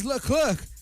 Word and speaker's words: Leclerc: Já vamos começar assim, porque o Charles Leclerc, viu minha pronúncia do francês?